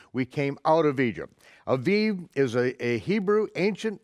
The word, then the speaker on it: Aviv: you out in the month of not abib when well you could pronounce it a if you want to be a gentile but it is the month of the aiv in Hebrew ha aiv the month of the Aviv now this is very